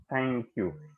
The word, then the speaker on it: thank you: So this is pronounced thank you. And th is pronounced like th का भी जो pronunciation होगा तो वो टंग होगी वो हमारे टीथ के बीच में आ जाएगा, तो इसे होगा थैंक यू.